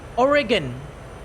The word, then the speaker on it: Oregon: welcome to the channel they they just say the g like the one in grow or gas Oregon Oregon Oregon Oregon Oregon yeah or Oregon say origin origin that's why I said origin right if you use the J pronunciation I will personally strangle you what Oregon what Oregon